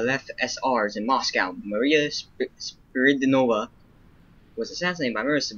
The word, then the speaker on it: Spiridonova: I know it's not Maria Spinach, but I do not know how to pronounce her name. Spiridonova. There are meeting the left SRs in Moscow. Maria Spiridonova was assassinated by members of Savinkov's combat squads.